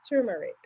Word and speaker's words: turmeric: it's turmeric now I'm not saying tum it's turmeric T turmeric hell yeah damn it see